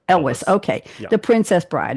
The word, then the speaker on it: Elwes: Is it Elwes or Elvis? What is it? The first one's pretty cool. Elwes. Elwes.